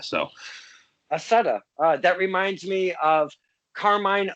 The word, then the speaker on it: Accetta: It is, so I pronounce it Accetta, but if you're going by the traditional Italian, I believe it's supposed to be Accetta with the two C's, like a ch sound, but ever since the